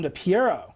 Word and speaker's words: DePiero: Dom DePiero. Piero. Piero. Because otherwise it rhymes with Romero, and it's very It's confusing.